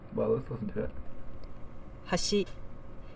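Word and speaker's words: 橋: let's listen to it Hashi meaning Bridge how's she so the second syllable is a little bit higher than the first but to me it doesn't sound like it's quite as big of a contrast um because the real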